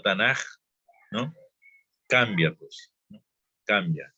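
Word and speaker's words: תנ״ך: aquí les estoy diciendo que no es Tanakh, sino Tanaj, ¿no?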